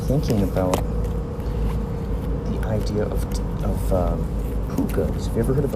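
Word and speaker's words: púca: A puka, and the way you can spell this is P-U-C-A.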